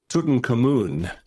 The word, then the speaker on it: Tutankhamun: It's Tutankhamun. Okay. Is the way they pronounce it.